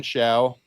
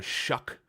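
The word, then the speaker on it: Shough: His name is so strange the broadcasts are pronouncing it Tyler Shuck. It's weird. Isn't it Shia? I know, but apparently Ian Rapaort, Daniel Jeremiah are calling him Mr. Shuck.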